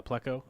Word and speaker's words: pleco: placostomas puccostomus picosamus pocustomus so pocostamus is winning out of all of them and none of them say plico so well except for that one robot except for this one robot pronunciation guide which does not seem accurate so we can't trust it you know so we just go with uh pleco and we'll be good yep oh the